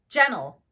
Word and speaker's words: gentle: Here are some words that include a silent T: interview, winner, gentle, advantage. As you can see here, I'm not pronouncing the letter T.